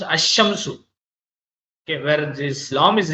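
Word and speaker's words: الشمس: Example, al shamsu, the sun is pronounced ash-shamsu.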